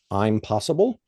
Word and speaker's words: Impossible: It's a book called I'm Possible. It's spelled impossible, but it's actually a photographer, Jeremy Cohort, C O W A R T.